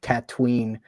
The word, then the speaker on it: Tatooine: of him being dragged across the sands of Tatooine, as I'm going to call it. Thank you for saying it the correct pronunciation.